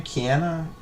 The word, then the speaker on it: Kiana: you say your name Kiana Kiana it's like uh Keanu Reeves but Kiana not Keanu Kiana debt crazy bro make